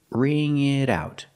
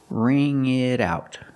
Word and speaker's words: ring it out: it in the middle and the pronunciation ring it out the T and it changes to a fast D because it's between vowels ring it out ring it out so I can can